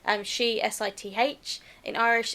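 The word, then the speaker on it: sìth: In Scots Gaelic, it's she, S-I-T-H.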